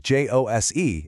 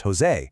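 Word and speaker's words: José: Yep, in Spanish, the J makes that breathy ha sound that we use for our H. So, a name like j o s e is not pronounced Jose, it's Jose.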